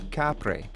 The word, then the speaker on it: Kapre: Their phonological alteration pronounced it Kapre.